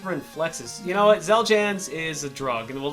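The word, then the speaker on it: Xeljanz: know what let's do yeah okay number 11 zeljans celgens um pokemon oh gotcha again damn it zeljans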